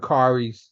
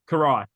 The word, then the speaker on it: Karai: Shredder's grandson and Kyrie's son. Yeah, Is that how you say it? Is it Kyrie? Karai.